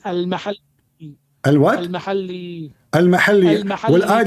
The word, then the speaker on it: al-Mahalli: Jalaluddin al-Muhalla wa Jalaluddin al-Suyuti. wrong. It is not al-muhalla. What it is? You don't understand. What it is? It is al-mahalli.